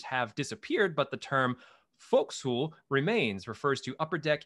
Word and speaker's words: forecastle: thought was really cool was forecastle which is pronounced folk soul as opposed to what it looks like as forecastle in the days of columbus ships were fitted